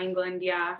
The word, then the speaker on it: Englund: But I have England. Did I pronounce that correctly? England? Yeah, England, England joining me today.